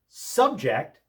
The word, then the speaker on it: subject: Subject with the accent on the second syllable, subject is a verb meaning to impose something or make someone endure something.